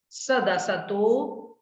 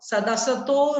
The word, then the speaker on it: सदसतो: सदसतो सदसतो रविशेषाद यदृच्छोपलब्धे ऋन्मत्तवत्। इसका उच्चारण एक बार और मैं कर रहा हूं, अलग अलग करके। सदसतो, सादसतो नहीं है, सदसतो, सदसतो, ठीक है।